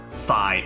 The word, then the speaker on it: Phi: Pie was her name, right? Phi. Oh shit. Huh. Why'd I think Pie? But spelled like Phi.